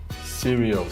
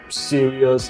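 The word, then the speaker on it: Sirius: do you spell that s i r i u s seral yes I thought it was like serious like no no no no also serious radio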